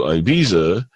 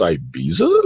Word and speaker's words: Ibiza: And it was this trip that we on going to Ibiza, because that's how it's supposed to be pronounced. But when you look at it written, it's Ibiza, right?